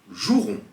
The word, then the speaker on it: jouerons: Soit un E, par exemple un éternuement, je nettoierai, nous jouerons. Vous remarquez ici qu'on ne prononce pas le E quand on lit.